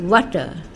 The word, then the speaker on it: water: ওয়ার্ডের শেষে আর থাকলে আর এর উচ্চারণ ইংরেজরা করে না, যেমন ওয়াটার, আওয়ার, ফাও, ফো, ডো, WATER এখানে ওয়াটা, HOUR আ, FOUR ফো, DOOR ডো।